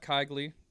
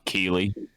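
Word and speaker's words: Keighley: We had Jeff Kigley. I know I'm pronouncing that wrong. Go ahead, Jay. You can get on me for it. Keeley.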